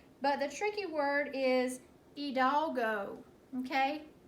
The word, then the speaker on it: Hidalgo: the tricky word is heed all go okay it looks a little different than how we say it but that's okay alright the word hidalgo is pronounced a little